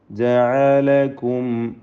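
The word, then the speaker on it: جعلكم: ജഅലകും അസ്വാജ, ജഅലകും, ഐന് വ്യക്തമാക്കി ഉച്ചരിക്കണം. അത് ഹംസ പോലെ ഒന്നും ആയി പോകരുത്.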